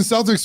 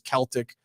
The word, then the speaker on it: Celtics: Why in every other form of vernacular is Celtic the preferred pronunciation except the for the NBA. basketball thing? Why are we That's Boston. why yeah, but why are we capitulating to this retardation? It should be the Boston Celtics.